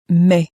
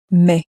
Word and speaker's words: mais: The word for but in French is Mais. Mais.